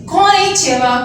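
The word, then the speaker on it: こんにちは: इसको कैसे प्रोनाउंस करेंगे, तो फिर हम उसको डिवाइड करते हैं जैसे बच्चों की तरह, जैसे हम कहते को या कौन, ची, वा।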